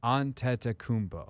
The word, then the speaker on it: Antetokounmpo: We sat there before on the desk going, Giannis we found a pronunciation in like a New York Times article. Antetokounmpo.